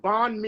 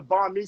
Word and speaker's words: banh mi: Oh yeah, so it's spelled, it's a BANH space MI, banh mi.